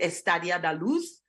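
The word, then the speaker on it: Estádio da Luz: This is, I believe you pronounce it Estadio da Luz.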